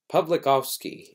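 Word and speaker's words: Pawlikowski: it's you know it's it's spelled with W but I think it's pronounced with the V there p pikovski is I think how it's pronounced something close to that uh who directed Cold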